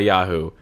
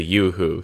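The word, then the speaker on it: Yoo-hoo: pointed out to like no it's not a Yahoo it's a yooo see how it says yo or uh yeah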